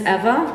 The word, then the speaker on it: Ewa: so to begin with my name is ewa think of evolution it's the easiest way to pronounce it as a clerk and